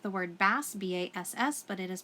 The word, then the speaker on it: bass: clef is spelt looks like the word bass ba SS but it is pronounced bass clef CLE F and any music